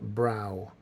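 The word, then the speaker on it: Brough: have anyways eyebrow because her last name's pronounced brow kelly brow so kelly brow the queen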